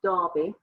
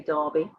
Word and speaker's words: Derby: in the town of derby it's um you would call it derby because it is spelled d-e-r-b-y but we say darby don't know why it's just how it's said and i was raised